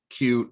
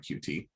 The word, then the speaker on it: Qt: basic intro to cube which i found out recently it's pronounced cute not qt um anyways so so